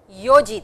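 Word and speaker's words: 四時: Sanji desu, yoji desu, goji desu, rokuji desu, shichiji desu, hachiji desu, kuji desu, juji desu, juichiji desu. 12時 desu. Please pronounce these two, yo and shichi, as is written over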